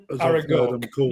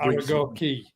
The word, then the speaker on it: Aragoke: Aragoke, not Aragoki, because it's Aragoke.